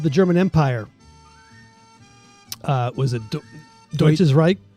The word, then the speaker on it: Deutsches Reich: Was it Deutsches Reich? Deutsches Reich is good enough, yeah.